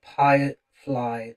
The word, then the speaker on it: Pyrefly: where you can find them under Firefly Official. So once again, that's spelled Pyrefly.